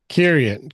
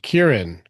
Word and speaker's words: Kieran: I've been saying your name wrong for like two years. Yeah. Kieran. Kieran. I'm like, Kieran. He's like, you're adding an I. There's no I there.